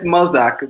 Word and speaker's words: Mulzac: So it's Mulzac, but yeah, you said it right actually.